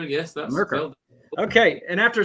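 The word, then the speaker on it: Murcar: How do you pronounce that? Is it Mercar? Yeah, yes, Mercar. Yes, that's Mercar.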